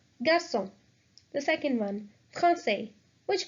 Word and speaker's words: garçon: When this accent is put on C, it changes the sound of C to S. Examples. The first one is garçon, boy. So if we remove this accent from the C, it would be pronounced as garçon, which makes no sense. So this C is mandatory. So the word will be pronounced as garçon, garçon.